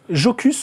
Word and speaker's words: Jocus: musée, il y avait le codex Jocus ou Yocus parce que on parlait d'Indiana Jones, le J se prononce I en latin.